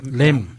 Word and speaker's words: lamb: 이거를 전문적인 용어로 LAMB? 뭐라고 읽어야 돼요? 램.